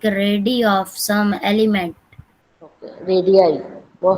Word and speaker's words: radii: Radii. Well, how we will pronounce this?